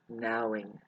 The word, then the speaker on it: knowing: Now, in the word knowing, you want to take away the K. Nowing.